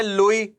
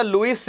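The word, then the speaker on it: Louis: इनको पूरा लिखा जाता है अगर तो तो हम ऐसे लिखते हैं भैया आपने देख ही लिया spelling L ओ यू आई एस। ठीक है? ये इन्होंने लिख लिया। अब यह कौन से हैं बेटा? लुईस 16। लुई 16।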